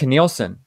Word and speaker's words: Nilsson: And another album that really, really, really affected my life in a positive way was when I discovered it was Nilsson. That's how you pronounce it, right?